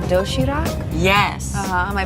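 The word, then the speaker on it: 도시락: healthy variety of neatly packed food it's called doshirak yes uhhuh am I pronouncing that right you're very good you can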